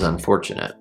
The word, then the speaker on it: unfortunate: isn't fortunate is unfortunate the second syllable is the word for as in here this t is for you or i have four fingers and a thumb four then we have cha cha it's not really cha it's cha cha